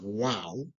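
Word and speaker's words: واو: Wow, pronounced wow, and it mostly sounds like W.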